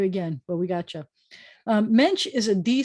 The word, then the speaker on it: mensch: Mensch, that's three consonants together, an N and a T and a Ch, which is actually a sh. But mensch, and often it's spelled like this. So, or with NT, so the ch is often a sh.